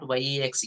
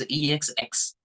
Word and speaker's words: X: One should not pronounce like X. It's not YEX, X. It is EXX. The correct pronunciation is EXX, just like F, L, M, N, okay, S, X.